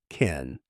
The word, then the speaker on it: can: Can sound soft, short. Can.